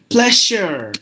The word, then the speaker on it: pleasure: s-u-r-e what we say pleasure like this we say like sh Pleasure Treasure exposure not like that you have to give this uh sound this sound exactly here pleasure there's three like